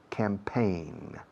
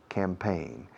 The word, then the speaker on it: campaign: G muda al final. Campaign. Campaign.